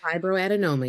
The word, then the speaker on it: Fibroadenoma: Fibroadenoma. Yep. Fibroadinoma.